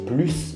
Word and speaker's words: plus: situations avec un objectif avec adverbe on ne prononce pas le s plus grand plus vite avec verbe et avec un nom on prononce le s par exemple travailler plus ou alors plus de personnes voilà j'espère